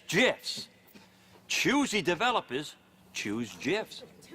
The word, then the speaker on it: GIF: the graphics interchange format Steve Wilhite says it's gifs choosy developers choose gifs I've never been